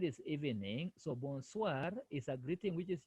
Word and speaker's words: bonsoir: Bonso. No, it is bonsoir. Bonsoir. SOR, we say soir.